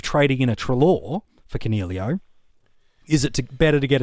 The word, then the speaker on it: Coniglio: And then what the heck do you do with Stephen Coniglio?